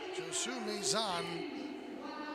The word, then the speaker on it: Josue Mazan: Josu Maison. He goes by the nickname Sway. So, mostly because I guess I was mispronouncing Hosu wrong. It's Josue Mazan is how he likes his name pronounced.